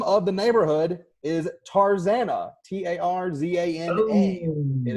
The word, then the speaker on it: Tarzana: there and the name of the neighborhood is Tarzana ta RZ a nd it is I know I will give Tarzan eeeh which is a loose pronunciation but definitely still